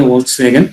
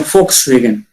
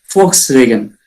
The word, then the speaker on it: Volkswagen: Not a Volkswagen. It is a Volkswagen. We need to spell Volks. F. We need to actually in this German word we have to be spelling to the F. Volkswagen.